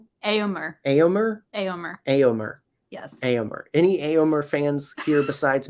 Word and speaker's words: Éomer: And so pronouncing his name, I am not good at. Éomer? Aorn? Éomer. Éomer? Éomer. Éomer. Yes. Éomer.